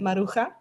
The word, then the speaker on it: Maruja: it's a Spanish name, and you would pronounce Maruja. it Maruja, Maruja.